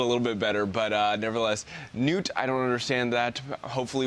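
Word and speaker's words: Knute: And I assume it's Newt right there, spelled K-N-U-T-E, but I'm gonna pronounce it like Newt. Newt, I think that's how you would pronounce it.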